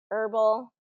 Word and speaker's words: herbal: And these are words that have a silent, very common words that have a silent H.